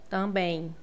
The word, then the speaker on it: também: Também você escuta uma letrinha, um sonzinho no final depois do e também. É como se tivesse um i aqui no meio também.